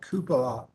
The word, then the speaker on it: cupola: arranged for the repair of the city hall cupola that's how you say it starting with the